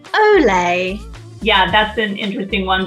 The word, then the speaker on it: Olay: Olay. Olay.